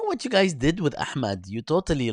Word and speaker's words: Ahmed: no, I mean I'm pronouncing it incorrectly, as in it's Ahmed.